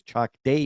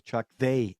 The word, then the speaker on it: Chak De: giving me correct pronunciation I thought it was chak day India he told me it was Chu they India or let's go India um this was directed